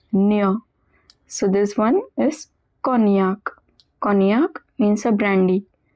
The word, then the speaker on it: cognac: above we saw in shallomana that gn is pronounced as near. So this one is cognac.